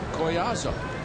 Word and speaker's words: Collazo: coming here so long, you've always heard everyone's call him Laser Collazo. And now we are told he wants to have it pronounced Collazo.